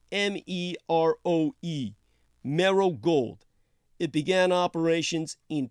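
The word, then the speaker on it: Meroe: invasion Russia's Sudanese gold mining front is called marrow gold that's spelled m-e-r-o-e marrow gold it began operations in 2017.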